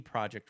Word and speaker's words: Projekt: the public courtesy of I keep wanting to sing CJ because project is spelled with the J. CD Projekt Red themselves, who released